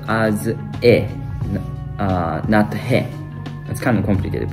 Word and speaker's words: へ: as a particle Direction marker it's um it's pronounced as e uh that's kind of complicated but um it's